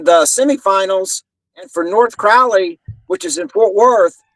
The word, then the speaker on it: Crowley: versus North Crowley or Crowley how do y'all pronounce it out in Texas Crowley Crowley like Crowley's Arkansas well you know Crowley uh